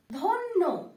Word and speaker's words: ধন্য: ধন্য, কান্দে বাড়ি ধ দন্ত নয় জ ফলা ধন্য। ঠিক আছে, এখানে জ ফলাটা কি একটু ঊর্ধ্বভাবে উচ্চারণ করতে হবে এবং প্রত্যেকটা শব্দ ডাবল ভাবে উচ্চারণ হবে।